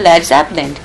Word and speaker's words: Led Zeppelin: So, we changed our name to Led Zeppelin. But we spelled lead as L E D so the Americans won't mispronounce it as lead.